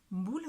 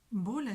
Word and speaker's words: mbola: Mbula, c'est la prononciation exacte. Hein. Je vous ai parlé de la prononciation il y a déjà quelques semaines, quelques mois même de ça. Et mbola, c'est quand dans le parler, comme ça vit un peu, il y a des gens qui disent mboula, mboula et